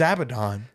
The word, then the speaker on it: Abaddon: Yeah, Abaddon and stuff. So Is it Abaddon? I thought it was Abaddon. I've said it wrong my whole life. it's Abaddon.